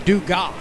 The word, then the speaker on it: Dugas: of the match-up and daniel does pronounce his last name do god 2-2 pitch dribbled to